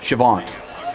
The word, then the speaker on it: Chavant: Chavant. What is it? Chavant. How do you spell it? C-H-A-V-E, or V-A-N-T, that's it, V-A-N-T, there you go. Like Savant, like you.